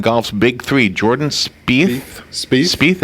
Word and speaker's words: Spieth: Spieth, is that how you say it? Yes.